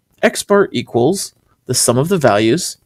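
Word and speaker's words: x̄: The mean is an X with just a little line over it. It's a little bar. And that's actually pronounced X bar. X bar equals the sum of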